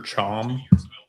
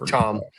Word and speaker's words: Cham: Mustafa Cham, or Chom, told me how to pronounce that earlier. Chom.